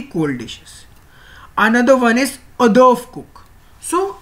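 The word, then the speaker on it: hors d'oeuvre: So it's, as you can see the word, it's not pronounced as the English word, as these are the French words. So these are pronounced, it is pronounced as adorf, adorf, not horse the ovio.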